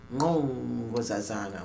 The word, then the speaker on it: Nkosazana: And the name that I give myself, and actually is pronounced Nkosazana with the click. Yes. All right. But I would just say Nkosazana, so it's more, I always get tripped up with this.